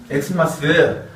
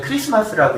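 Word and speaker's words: Xmas: 이거 틀린 표현이에요. 엑스마스는 아니에요. 만약에 요거를 제대로 읽으려면은 그냥 크리스마스라고 읽어야 돼요. 요게 영어가 아니고 헬라어의 키라는 단어거든요. 키라는 알파벳이에요. 그래서 원래 엑스마스가 아니라 읽으려면 키마스 해야 되는데 키마스 이상하잖아요. 그래서 요렇게 써 있어도 읽을 때는 크리스마스라고 읽는 게 바른 표현이에요.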